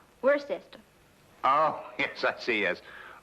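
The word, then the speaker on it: Worcester: else too dark but it's spelled w-o-i-c-e-s-t-e-r we're a sister oh yes I see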